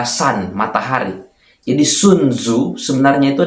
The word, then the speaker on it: Sun: Sun itu bacanya sebenarnya dari kata san, matahari.